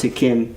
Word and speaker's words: Hakim: His name is spelled like Hakim, but he says it's pronounced Hakim. Okay.